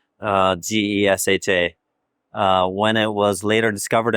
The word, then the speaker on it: Gesha: So when it was taken from the forest originally, it was closest to a town called Geisha, phonetically 2 syllables, Gesha.